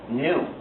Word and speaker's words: gnu: Of course, the reason it's funny is that according to the dictionary, it's pronounced new, you see, and so that's why people use it for a lot of wordplay.